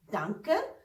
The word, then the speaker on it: danke: डांकर pronounce उसको इस तरह से करते हैं, थैंक यू डांकर, थैंक यू डांकर।